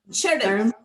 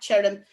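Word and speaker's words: tirim: but the Irish word for dry, which is chirrim. And because it's followed by an I, it's a ch rather than the hard T of ta.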